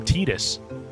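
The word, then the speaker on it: Tidus: Yeah, I know it's pronounced Tetus, but I refuse to pronounce it that way.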